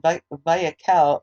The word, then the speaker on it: Vayakhel: And Vayakhel is Vayakhel, and Pekudei is Pekudai. So just that's how that's spelled.